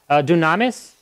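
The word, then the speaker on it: δύναμις: that word mean in Greek you know it's pronounced uh dunamis but that's where we get our word for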